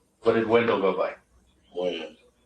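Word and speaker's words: Wynn: Win. Win or Wan? Win. Win. W-E-N or W-I-N? W-Y-N-N. W-Y-N-N.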